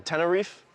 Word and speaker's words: Tenerife: Well, I mean, also, again, Tenerife?